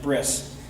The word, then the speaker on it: brit: that's why i say some people pronounce it brit some people pronounce it bris and uh it's still